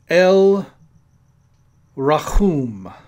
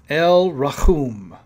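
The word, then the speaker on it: אל רחום: And the pronunciation in the Hebrew is El Rachum. El Rachum.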